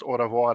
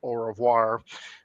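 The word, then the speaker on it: au revoir: He recommend the French film Orovoir Leafa by Lu Mal and obviously being American he probably pronounced Oravoir as Orovoir and the customer apparently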